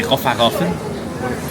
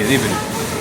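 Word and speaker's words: Raufarhöfn: On dirait que ça se dit Rofarofen. Ça se dit Riverup.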